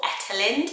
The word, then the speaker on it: Ethelind: this name eterlind ethelene so when i looked at the pronunciation it don't doesn't use the ethyl the th it was more ethelent because it is germanic so they don't have that sound corrects me if i'm